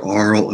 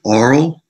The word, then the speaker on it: aural: And, you know, work with students on their aural and oral. And I'm pronouncing those two words differently on purpose. In American English, they're usually pronounced the same. So just oral. But, you know, aural, if you wish.